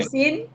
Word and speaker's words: cuisine: cuisine, La cuisine. la cuisine. ¿sí? La N final suena. La cuisine. La cuisine. Bien. Eso que vos pronunciás al final es la N, ¿sí?